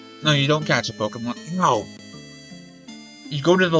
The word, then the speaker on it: Pokémon: that said Pokedex but it's not Pokemon or Pokemon it's Pokemon and you don't get to mispronounce it because language evolves that e is Latin it's not Japanese it's not [ __